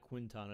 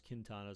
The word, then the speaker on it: Quintana: Actually, it's probably pronounced Kintana, right? Not Quintana. It's Kintana since it's Espanol.